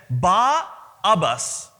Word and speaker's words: Barabbas: In other words, it's pronounced as Ba-Abbas. Ba meaning son of, Abbas, as we know, Abba is the father.